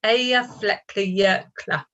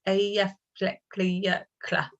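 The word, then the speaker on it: Eyjafjallajökull: So I've had a question, how do you pronounce that? Eyjafjallajokull. Okay, it's quite difficult. In the office, many of my colleagues call it E15. So it's Eyjafjallajokull.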